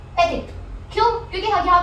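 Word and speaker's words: petit: पेटिट, पेटिट means small, just in case you don't know. So पेटिट में हम पैटी नहीं बोल रहे हैं, हम बोल रहे हैं पेटिट, पेटिट।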